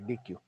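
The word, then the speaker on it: deque: Okay, और भी हैं, क्यू है, ओके, डी क्यू है, डी ई क्यू, स्पेलिंग क्या होना चाहिए? डी ई क्यू, क्यू यू ई, ओके, डी क्यू।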